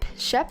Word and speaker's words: köp: Köp. Yeah, this has to be Swedish. Köp just means buy. And the K is pronounced as köp. The K is pronounced as sh if it follows an ö.